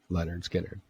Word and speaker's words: Lynyrd Skynyrd: the album's called Leonard Skynyrd no it's called pronounced Leonard Skinner this is the most confusing thing ever because